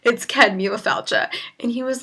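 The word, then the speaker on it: Céad Míle Fáilte: the overhead, and he was like, can anyone pronounce this? And I was like, yeah, I got this. It's Ced Míle Fáilte.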